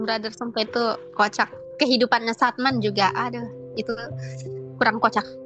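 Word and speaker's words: Sadman: Makanya namanya jadi Satman. Aneh ya. S A D M A N lagi orang luarnya bacanya tuh namanya setman.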